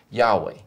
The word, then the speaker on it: Yahweh: read that word, the name of God, as Yahweh.